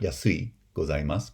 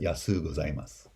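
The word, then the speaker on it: やすうございます: If you make the super polite form, it becomes yasu gozaimasu. Right? Not yasui gozaimasu, but yasu gozaimasu.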